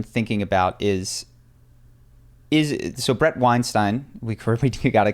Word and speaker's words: Weinstein: about is so Brett Weinstein, we got it correct on the last podcast. That's how you say his name. Like Einstein with a W.